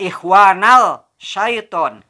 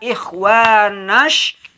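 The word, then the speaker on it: إخوان الشياطين: Nah, tidak ikhwanal syaiton, tapi dibaca ikhwanash, seolah-olah dari kalimat nash langsung ke shin ke sini.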